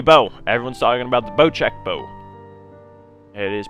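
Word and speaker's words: Bocek: uh the new bow everyone's talking about the boat check bow it is pronounced boat check right there i believe it was named after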